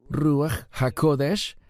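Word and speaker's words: רוח הקודש: ¿Cómo se pronuncia Espíritu Santo en hebreo? Ruajakodesh.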